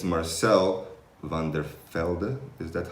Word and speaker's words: van der Velde: So that would be the pronounced van der Velde. Van der Velde. Van der Velde. So you're very, very close.